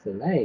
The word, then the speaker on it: fillet: Okay, when you have a radius along the corner, that's called a fillet. Or it's a French word that you would actually pronounce it fillet if you were French.